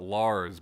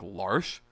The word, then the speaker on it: Lars: Lars everybody pronounces it Lars but where that character is from that spelling of that name would be pronounced like L'Arche I like L'Arche but